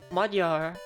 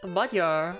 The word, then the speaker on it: Magyar: She'd be like, "No, it's not Magyar. It's Magyar," and it's like.